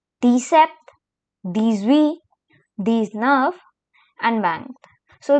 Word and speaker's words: dix-sept: Then we have 17, which is pronounced as dix-sept.